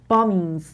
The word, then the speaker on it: bombings: bombings این بی سایلنته. bombings انگار بی نیست.